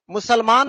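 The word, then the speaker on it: Musalman: मुसलमान में भी देखोगे तो एम एन लास्ट में है, लेकिन आप उस मैन को मैन नहीं पढ़ सकते हो, मुसलमान लिखते हैं इसका।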